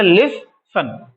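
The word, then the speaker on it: listen: लिटन नहीं पढ़ेंगे लिस्टन तो ये हो जाएगा लिस सन लिस सन एस को सा पढ़ेंगे इ को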